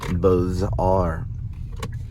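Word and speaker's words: Beaux-Arts: the name of the style of art is pronounced B are there's argument that it could be pronounced bizar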